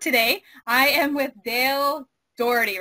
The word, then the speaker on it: Dougherty: I am with Dale Doherty, right? That's the pronunciation?